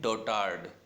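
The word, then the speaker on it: dotard: ठीक है, और इसके जो सिनोनिम है उनको आप देखें, गागा एंड डोटार्ड। ठीक है, क्या, गागा एंड डोटार्ड। यहाँ पे भी आर प्रोनाउंस नहीं होगा, डोटार्ड, है ना, डोटार्ड।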